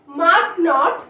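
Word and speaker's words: mustn't: ডু not, don't, did not, didn't, does not, doesn't, can not, Kant, could not, couldn't, মাস্ট নট, মাস্টন্ট, এখানে টি এর sound থাকছে না।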